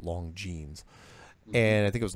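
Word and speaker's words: Longines: Khurana scope which is spelled L o ng ine s but it's pronounced long jeans and I think it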